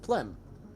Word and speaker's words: Plem: or plem for short your name is plum then like Plum but with an e and pronounced plem all right murder man